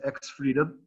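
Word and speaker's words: X3DOM: The first one is X-Freedom, is how it's pronounced.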